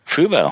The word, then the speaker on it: Fubo: Is that how you pronounce that? Fubo. Yeah. Fubo.